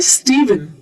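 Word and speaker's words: Stephen: यह प्रोनंसिएशन गलत है ये लिखा जरूर पीएच है लेकिन इसे कहा जाता है स्टीवन तो ये जो पीएच है ये भी वी का साउंड ले लेता है बहुत ज्यादा लॉजिक ढूंढने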